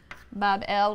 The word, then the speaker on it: Babylon: magnificent shrine or temple in Babylon, pronounced Bab-el, which simply means gateway of the god, the gate of the god.